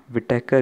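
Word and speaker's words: Whittaker: विटेकर इसका spelling है WHITEKER, ठीक है, विटेकर पढ़ते हैं हम इसको, ठीक है।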